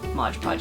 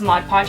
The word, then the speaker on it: Mod Podge: is glue now because Modge Podge Modge Podge see there I said it wrong because Mod Podge is a finishing glue